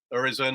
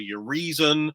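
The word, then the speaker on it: Urizen: he named him um some people pronounce it Horizon as you're saying some people say you're horizon or your reason I mean you know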